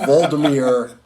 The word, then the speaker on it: Volodymyr: But I was thinking Voldemort, and I know that's not right. Volodymyr Zelensky.